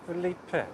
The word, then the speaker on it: Philippe: I prefer it pronounced Philippe, but it doesn't come over in text.